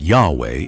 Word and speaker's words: Yahweh: what about Yahweh well most Scholars today agree that Yahweh is the closest Rec construction of how YH wh might have been pronounced in ancient times it comes from the